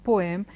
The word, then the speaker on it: poem: we were in school, we've heard everyone say poem, poem, and it's not poem, it is poem, poem. Okay, you don't have a or a sound coming in there.